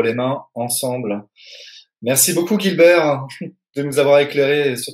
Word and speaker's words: Guibert: Sans L, c'est Gilbert Gilbert.